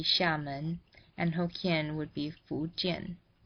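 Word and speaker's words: Xiamen: than official Mandarin dialects in Mandarin Amoy would be Shaman and hokin would be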